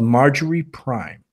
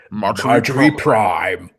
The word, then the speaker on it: Marjorie Prime: called Margery Prime Jim you actually said the name of that movie incorrectly I'm sorry I don't often correct people on things because that's douchey but you said it wrong it's its Marjorie prime no really I am